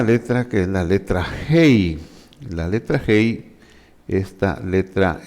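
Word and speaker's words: ה: Su equivalente en nuestro idioma castellano sería como nuestra H, que decimos es una H muda, pero su nombre es Hei, gutural, porque la pronunciamos con el aire que sacamos de la garganta.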